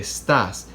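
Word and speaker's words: estás: estas no we don't so it's a Stas and since this is on the last vowel the the vocalized accent is on the last vowel we need to put that X written accent mark okay let me give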